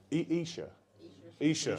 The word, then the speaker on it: Esher: I was going to say, I keep wanting to say Esher, because I've got like MC Escher on mine. Yeah. But Esher from Esher.